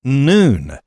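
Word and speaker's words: ن: homes and churches with the Arabic letter N it's pronounced noon uh when its Fighters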